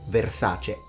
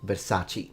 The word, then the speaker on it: Versace: And it's fettuccine, not fettuccini. Just like Versace, not Versace.